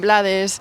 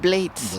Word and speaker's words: Blades: Masuchi, o sea, Rubén Blades, que la gente lo pronunciaba Rubén Blades, Blades. Y yo y yo decía, "Ah, yo siempre lo he pronunciado Vlades, así es como se decía en España, ¿no?"